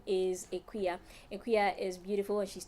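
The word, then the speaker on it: Aquia: But the main reason is I got tired of having to pronounce it the way it's spelled. So I just made it official. So that's my official name now, Equia. And it's spelled A-Q-U-I-A.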